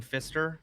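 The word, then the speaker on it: Phister: Uh Fister. Fister spelled with a ph.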